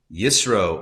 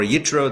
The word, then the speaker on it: Yitro: Torah portion this week is Yro or Yetro, depending on how you pronounce it.